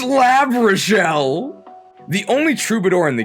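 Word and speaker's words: L'Arachel: We thought it was Lishelle, but it turns out it's Lab Rashelle, the only trouidor in the game.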